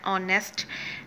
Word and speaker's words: honest: And like that, honest, h is silent for so we put here an honest.